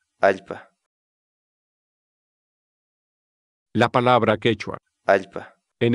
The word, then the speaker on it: allpa: de vídeos en la que te enseñamos a pronunciar algunas palabras en quechua así que nuestra palabra del día por hoy es ipad ipad la palabra quechua alta en español significa tierra